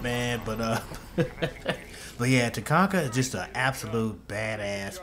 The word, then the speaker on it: Tachanka: I'm gonna say Tachanka, that's how I say it. I hope that's how you say it, man. But but yeah, Tachanka is just an absolute badass with this mounted LMG, man.